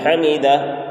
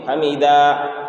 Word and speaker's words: حمدہ: جو گول ہا ہے یہاں پر بعض حضرات کھینچتے ہیں حمیدہ، تو حمیدہ نہیں ہے، حمیدہ، یعنی گول ہا کو ظاہر کریں گے اور یہاں پر الف نہیں دینا ہے، الف کو ظاہر نہیں